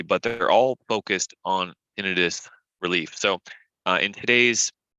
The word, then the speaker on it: tinnitus: story with tinnitus now you may pronounce it tinnitus but we usually say tinnitus here at Parable health